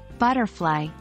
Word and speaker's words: butterfly: English compound words are typically stressed on the first syllable for example in the word butterfly we stress the first part butter and not the second part fly this is the most